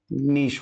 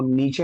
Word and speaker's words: niche: हो जाएगा बेटा क्या नीश हो जाएगा नीश के स्पेलिंग जो है सीई रहता बेटा इसको नीचे नहीं पढ़ना ठीक है यह दो